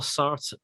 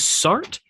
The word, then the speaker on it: Sartre: Well, is it two syllables? I'm on fat. I looked up multiple pronunciations, and everybody said Sartre. Okay, I've always heard it. Apparently, the French is like Sartre. It's not. It's two. Well, I think it's two syllables. The French just don't like emphasizing.